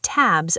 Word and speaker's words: tabs: I have too many tabs open. Deep dive. Tabs ends with a Z sound.